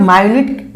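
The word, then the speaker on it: minute: अगर इसे आप माइन्यूट, माइन्यूट उच्चारण किए तो इसका हिंदी ये होगा। अगर इसको आप मिनट, मिनट या मिनट बोले तो क्या हो जाएगा, यानी यानी घंटा का, ठीक है ना, घंटा का 60वां अंश।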